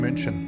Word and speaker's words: München: We are landing in München.